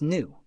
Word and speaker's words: nu: pronounced as Lambda and frequency pronounced as new the wavelength see figure